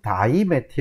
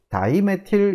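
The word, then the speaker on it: dimethyl: 하나로 묶어서 열로 처럼 다이 매트 이렇게 쓰는 거죠 이것도 역시 일본 사람들이 발음이 안 돼 가지고 d 베티의 이렇게 해서는 그걸 워낙에 따라서 지금도 많이 쓰고 있는데 이제 좀 바꿉시다 다이 메틸 이렇게 해 주십니다 이거이거 또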